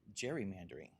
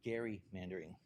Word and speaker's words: gerrymandering: I'd been saying gerrymandering. And Tom being the consmate historian corrected me and told me that the correct pronunciation is actually Gary mandering.